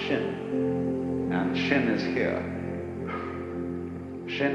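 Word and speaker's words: 心: please pacify my mind in Chinese the mind is um this word pronounced shin and shin is here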